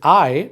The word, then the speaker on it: y: Or is going to be o. And is going to be I. It's just a Y, but it's pronounced I.